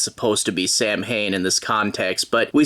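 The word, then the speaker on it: Samhain: only remembers him being Sam Hayne I wonder if that's how you're supposed to pronounce it I know he's named after the Irish folklore character which is traditionally pronounced uh saw Wayne but they call him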